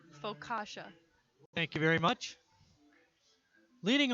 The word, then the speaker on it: focaccia: on the focaccia oh that's how you pronounce the bread see folk wait wait wait wait Emily what is it faux kasha thank you very much